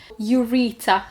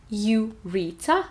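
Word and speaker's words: ureter: with U in front, ureta and urethra. The stress is in both cases on the second syllable, ureta again and urethra. In ureta we have T in the middle, in urethra we have TH, Th.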